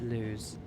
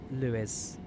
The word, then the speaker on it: Lewes: Lewes, not Lewes. Lewis. Oh, Lewis.